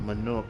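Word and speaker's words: Mamook: The rite of succession, the means by which the autarch of Mamuk was chosen. The autarch of Manuk was chosen. Okay, so that's how you pronounce that.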